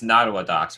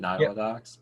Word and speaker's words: Nottawa Docks: So what's next it's Nottawa Docks, right? That's how you pronounce it, Nottawa Docks?